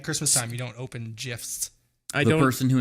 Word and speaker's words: GIF: Yeah, and if you pronounce it as a GIF, you're fucking wrong. Yeah. No, I agree. We're not spreading peanut butter on our, videos, okay? It's Yep. GIF.